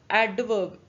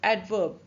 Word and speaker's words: adverb: जैसे इट इज नॉट एडवर्ब, से it's softly like एडवर्ब.